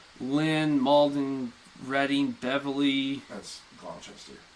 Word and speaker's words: Gloucester: everybody in the area, like you've got Woburn, Manchester, Lynn, Malden, Reading, Beverly, That's Gloucester. Gloucester. I'm telling you, that's how it's pronounced.